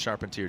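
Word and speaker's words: Charpentier: see what Rome sharpentier has pronounced sharpentier don't you don't you even try to put that French Canadian spin on it buddy I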